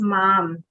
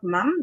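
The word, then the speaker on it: मां: This is mam, not mum.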